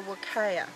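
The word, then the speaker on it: huacaya: One is called a suri, which is this brown one here, Max, and the other one is called a wakaya, spelt with an H.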